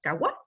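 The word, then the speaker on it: قهوة: La palabra café tiene su origen en el vocablo árabe kadwak, que se pronuncia kawa.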